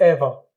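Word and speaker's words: ever: इस तरह से एवर, जैसे अब ये तो वैसे ही प्रोनाउंस करेंगे, आर को साइलेंट करके बोलेंगे एवर। एवर नहीं बोलेंगे। जैसे बहुत लोगों को आप ये बोलते, गलत प्रोनाउंसिएशन है, एवर बोलते हैं।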